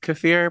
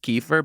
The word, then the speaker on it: kefir: saying it I love cafir personally what is it some people call it kefir but they're actually pronouncing it wrong don't shoot the messenger